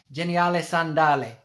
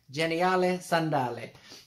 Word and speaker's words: Geniale Sandale: means is awesome sandals i'm probably going to butcher it but it's like geniale sandale geniale sandale something like that anyway i'm probably more in the italian sort of pronunciation there but it means